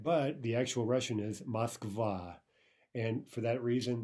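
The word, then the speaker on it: Москва: the actual Russian is Moskva and for that reason the stress is on the second syllable and both the awe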